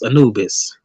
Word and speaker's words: Anubis: But now I know it's Anubis.